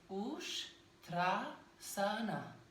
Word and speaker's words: Uṣṭrāsana: So a lot of people here in the West say Uṣṭrāsana or like Uṣṭrāsana. It's Uṣṭrāsana. So yes, so that's the correct pronunciation of the term.